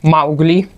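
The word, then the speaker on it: Маугли: It is a Russian way of saying Mowgli. We pronounce it as Mowgli in Russian.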